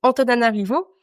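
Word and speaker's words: Antananarivo: C'est Antonana Rivot qui se prononce peut-être pas comme ça. Non, franchement, tu l'as très bien prononcé. C'est juste le ha qui devient un O.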